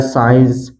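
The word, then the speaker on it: science: इसी तरह है डिसिपल, इसी तरह है सीजर्स, इसी तरह है साइंस, मसल्स, सीड, तो इन सभी वर्ड में आप देख सकते हैं यहाँ पर यस के बाद आया है सी, इसलिए सी का उच्चारण नहीं किया गया है, सी साइलेंट है।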